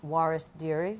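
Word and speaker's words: Waris Dirie: so of course this is the life of Juarez Deary am I pronouncing her name correctly yes and she's the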